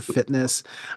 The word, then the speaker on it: FTNSS: It's spelled FTNSS, kind of like Grinder is GRINDR. It's FTNSS for fitness.